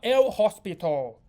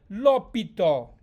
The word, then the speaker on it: l'hôpital: Okay, this is not el hospital. Comment prononcer le mot l'hôpital en français? Le H sont mute, donc c'est l'hôpital. Bonjour français.